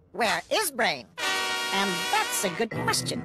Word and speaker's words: WereBrain: tell all grar penny it's pronounced where is brain and that's a good